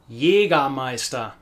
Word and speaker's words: Jägermeister: Jägermeister.